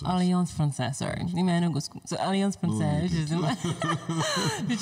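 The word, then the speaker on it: Alliance Française: How do you pronounce that again? Alliance Francaise. Alliance Francaise, sorry.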